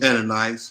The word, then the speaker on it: Ananias: But a certain man named pronounce that for me. Ananias.